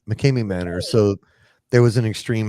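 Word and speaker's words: McKamey Manor: Is it McCrae Manor? Mckame Mckame Manor.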